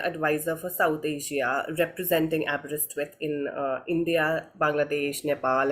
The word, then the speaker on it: Aberystwyth: am the senior adviser for South Asia representing abist with in uh India Bangladesh Nepal and Sri Lanka